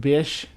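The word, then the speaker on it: Bysshe: Google says Bice, which is pronounced Bish Percy Bish Shelly.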